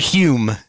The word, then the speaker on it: Hume: a real jerk named Leonard Hume rhymes with fume No so basically your